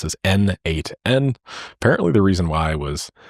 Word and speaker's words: n8n: Uh, it was written by the creator himself and he says that it means nodemation and it is pronounced as N8N.